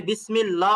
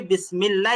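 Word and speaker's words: بسم الله: আল্লাহ শব্দের লামের আগে মিমের নিচে আছে এই থাকার কারণে আল্লাহ শব্দের লামটাকে চিকন করতে হবে কিভাবে যেমন বিসমিল্লাহ এখানে কিন্তু আপনি বিসমিল্লাহ বলতে পারবেন না এখানে আপনাকে বিসমিল্লাহ বলতে হবে যেমন বিসমিল্লাহির রাহমানির রাহিম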